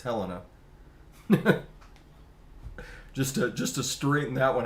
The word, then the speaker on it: Helena: And it's not pronounced Helena, everybody. It's Helena. just to straighten that one out, because there's so many times someone will say Helena, Montana.